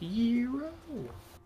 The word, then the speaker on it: gyro: used it to make a gyro or a euro, I guess. Although it's technically pronounced yuro, but I still want to call it a gyro cuz that sounds cooler.